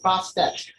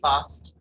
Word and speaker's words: Bast: good offering for her her name is sometimes written as bastet but that is due to a mistransliteration of her hieroglyphics the second letter t was only to signify a female ending the correct pronunciation should be best there are many misconceptions